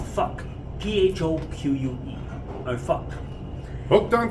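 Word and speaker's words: phoque: In French, a seal is pronounced un fuck.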